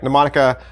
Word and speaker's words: mnemonica: first let's talk about mnemonica right mnemonica well it's spelling looks like this and the m right there at the front that is silent and until you hear